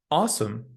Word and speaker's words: awesome: The word awesome has a similar sound.